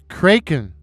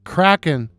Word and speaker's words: Kraken: At the time I wrote this poem, I thought the name of the crypted was pronounced Kraken. It wasn't until Seattle got its National Hockey League team, the Seattle Kraken, that I realized I had mispronounced the name.